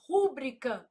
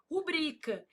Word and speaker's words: rubrica: A pessoa vai lá e fala assim: "Rúbrica não, não existe, meu filho. Ah, mas eu não posso falar se eu quiser. Não, se você quiser, você pode falar, mas tá errado. O certo é o quê? Rubrica.